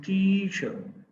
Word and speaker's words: teacher: complete sound chair teacher the correct pronunciation of the word is teacher the first syllable is the stress residual you know there